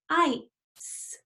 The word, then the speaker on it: ice: Now remember, the E at the end is silent, so it doesn't say anything. And it makes this vowel say its name. What's the name of this vowel? I, you're right. And so this doesn't say anything, and this says I. So let's sound out this word. Ice.